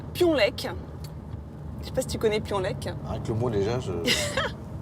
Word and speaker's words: Piolenc: la nationale 7 intéressant j'ai dit pions lek en fait il faut prononcer piolenc c'est jean-claude un enfant